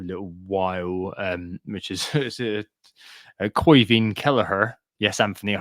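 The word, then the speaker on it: Caoimhín Kelleher: be out for a little while, which is Koivin Kelleher. Yes, Anthony, I pronounced that correctly.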